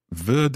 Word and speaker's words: wird: So I think that would be, heute Nachmittag wird es schneien. Heute Nachmittag wird es schneien. Wird. It's a kind of T sound at the end of that. Wird es schneien? Yeah, but it's spelled with a D.